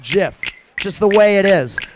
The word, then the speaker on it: GIF: coming listen it's a categorical fact that it's pronounced jiff just the way it is and I understand I understand if you want to call it gif it's your it's your right go right ahead